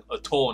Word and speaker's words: atoll: 对，你可能会想说，这个有没有可能念成 atoll 呢？